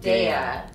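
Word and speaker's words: Daiya: How do you say it? Is it Daya or Daya? I think it's right. I think you're right. Daya. Because it's D-A-I.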